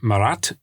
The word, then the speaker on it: Marat: I'm going to use the word Marat just because it's a little bit easier for, I think, English speakers to understand, but in French it's pronounced Marat.